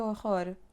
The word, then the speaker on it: horror: It's not que horror, horror, or horror, que horror. Just don't let the air flow. Que horror. It can sound like h, like strong h.